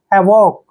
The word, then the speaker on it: havoc: जब भी O के बाद C आता है तो C का उच्चारण कै करते हैं। हैवॉक, हैवॉक, हैवॉक मीन्स होता